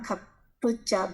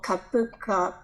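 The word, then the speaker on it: cupuaçu: Some people say kapuka butter, kapucha butter, but we call kapuka butter.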